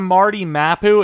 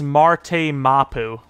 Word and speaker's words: Marte Mapu: Instead of Marty Mapu, it's Marte Mapu.